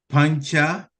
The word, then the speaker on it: Panca: Then there's Pancha, Panca. The C we pronounce it like CH, even though there's no H.